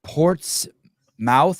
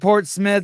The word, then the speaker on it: Portsmouth: that city is uh it's said Port Smith but uh but it it's spelled Portsmouth but said Port Smith that's how we know if you're an Insider or an outsider yeah because people do